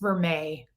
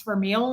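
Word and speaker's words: vermeil: stores years ago she was like it's actually pronounced veret and I was like no it isn't please tell me I'm it's verile and she was like no it's ver so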